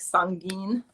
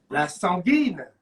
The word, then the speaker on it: sanguine: I actually love the way you say it, right? You say it like sanguine. La sanguine.